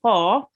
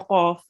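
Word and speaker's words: ق: And the other thing about qaf is it is a thick letter, meaning when you pronounce qaf, you have to round your mouth a bit. I won't say qa, I will say qa. Okay, so round your mouth a bit when we read the qaf.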